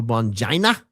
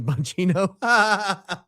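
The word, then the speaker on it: Bongino: Whenever I talked about the case, I kept saying, you know, Bonjaina? Rhymes with fagina. Uh I only learned from you, only did I learn from you the other day that his real name is Bonjino.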